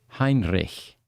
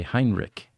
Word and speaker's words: Heinrich: Heinrich. In the U.S., English people say Heinrich, right? Well, Germans know how to pronounce CH.